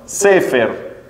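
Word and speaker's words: ספר: Libro en hebreo se dice, como bien dijeron, Sefer.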